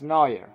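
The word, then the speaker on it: Neuer: Manuel noer noer because after I made the videos in Spanish some people left me comments and now I know that it's pronounced noer okay so how Manuel noers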